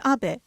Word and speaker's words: Abe: House my name is Abbe but in the United States some people mistakenly pronounce my name as ape but that is not